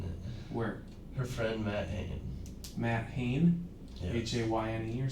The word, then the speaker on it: Hayne: Or Matt Hain, that's how it's pronounced though.